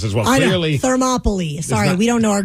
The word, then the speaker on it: Thermopylae: Yeah, the pronunciation was the Battle of Thermopylae. Thermopylae. So it rhymes with Monopoly.